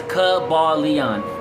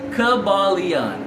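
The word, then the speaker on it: Kybalion: A Conscious says, Kabalion. Thank you, A Conscious. Thank you for teaching me how to say the word. Kabalion.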